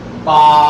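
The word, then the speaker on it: ب: এর একটি সুন্দর নাম আছে, আমার বলা শেষ, আপনাদের বা। বা বার উচ্চারণ হচ্ছে 2 ঠোঁটের ভিজা জায়গা লাগাইয়া একাধিক টেনে বলতে হবে।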